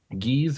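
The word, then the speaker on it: gueuze: And geese or goose or goza, however you choose to pronounce it, is typically a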